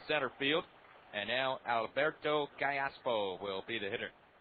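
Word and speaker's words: Callapo: will be the hitter kayaso from marai Venezuela 22-year-old infielder a second Bas whom the Angels like quite a bit spells the last name c a l l a p o pronounced Kayo switch hitter batch left-handed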